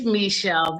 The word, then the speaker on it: Michelle: It's Michelle. That's the way my mother, when she named me, that was the pronunciation she had in mind with the spelling.